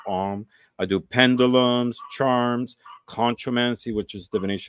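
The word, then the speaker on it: Ogham: M which is written like ogam but it's pronounced om I do pendulums charms conoman which is divination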